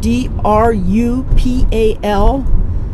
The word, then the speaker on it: Drupal: that's Drupal it's spelled d r u p a l it sounds like the Dutch word for Village that's how it's got